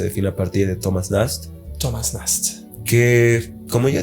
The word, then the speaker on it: Nast: era estamos hablando de Thomas nost Thomas no pronunciación exacta Thomas nast n que le da